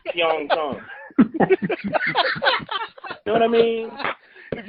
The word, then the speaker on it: Pyeongchang: that we're using for the whole city is Pyeongchang, and it's an Americanized pronunciation of Pyeongchang.